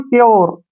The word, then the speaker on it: pure: ठीक है ना, अब यू के बाद फिर से RE आया है तो यू का उच्चारण हमने यो करना है। इसको पढ़ेंगे हम प्योर।